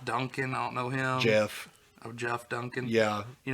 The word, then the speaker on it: Geoff: Jeff. Oh, Jeff Duncan. Yeah. You know him? Nope. But I know it's Jeff and not Geoff. It's spelled It's spelled Geoff. Yeah, but that's and Jeff.